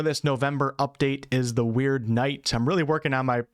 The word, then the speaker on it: Wyrdnight: And the last category for this November update is the Wyrdnight. I'm really working on my pronunciation of weirdness and Wyrdnight. It's like, it's not weird, but it's not word. It's in between both of them.